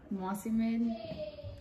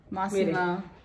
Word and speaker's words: Mossimo: Mossimo. Mossimen. No sabes pronunciarlo, tú tampoco. Mossimo.